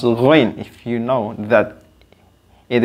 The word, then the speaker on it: غين: able also to pronounce ghain if you know that it is the brother of the kha. So just pronounce ghain at the same point of articulation with kha.